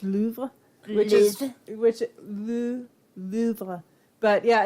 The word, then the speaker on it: Louvre: Actually, it's pronounced Louvre. I feel like you have to make your lips like Louvre.